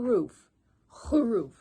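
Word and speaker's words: خروف: soft write a sheep sheep in arabic it's roof remember use your throat it's a whole roof great job hey look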